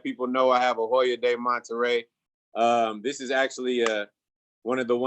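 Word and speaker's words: Hoyo de Monterrey: And today, just so that people know, I have a Hoya de Monterrey.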